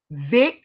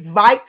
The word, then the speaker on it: Vikes: Vix. I'm sorry, not Vix. Vikes. Not Vix. Vikes. Because it look like it's spelled like Vix.